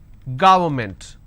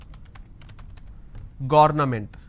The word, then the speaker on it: government: not against it's against government how do I pronounce this ga it's ga word government and you pronounce this when you make a mistake as garment so don't say it's government it's government environment against